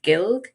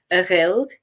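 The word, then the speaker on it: Gaelg: And then in Manx, we call it Gilg, Ghilg, or Gilk. So depending on the part of the island, you have different pronunciations.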